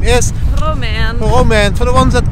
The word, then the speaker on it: Romaine: My name is Didi Taihuttu and my wife's name is Romaine. Romaine. For the ones that can't pronounce it, just say Romy, because nobody can